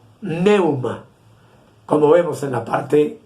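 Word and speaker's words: pneuma: idioma del nuevo testamento esta palabra se pronuncia neuma como vemos en la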